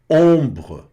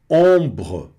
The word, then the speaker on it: ombre: Essa palavrinha que vem agora é interessante, ombre, ombre, não pronuncia o E no final, vira um BR meio que mudo mesmo ali, que vai afinando até finalizar com só um sonzinho do E, que não é destaque.